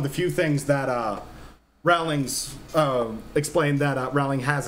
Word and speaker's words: Rowling: the books that's something rawlings has added rowling has added i keep saying rallies and people are going to think i'm saying the name wrong yeah um but that's